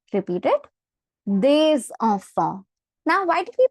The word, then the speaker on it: des enfants: Liaison rule is basically if the next letter is a vowel, we pronounce the previous letter. So hence we say des enfants.